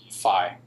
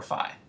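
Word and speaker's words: phi: rotation that is um fi good it could be pronounced F or fi good is there free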